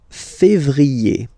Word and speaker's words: février: Then comes février, février. Okay, remember when you have this accent aigu on the top of then you pronounce it E, okay?